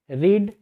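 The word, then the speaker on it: read: इस वाले में थोड़ा सा ट्रिकी होता है, क्योंकि ये तीनों के तीनों सेम हैं, बस इसके प्रोनाउंसिएशन थोड़े अलग होते हैं सेकेंड और थर्ड फॉर्म के। रीड, रेड, रेड हो जाएगा।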